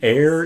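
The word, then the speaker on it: Aer: Air, even though it's spelled with an E, is just like air with an I, basically.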